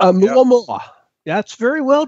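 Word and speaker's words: ʻOumuamua: Oumuamua. Yeah. That's very well pronounced.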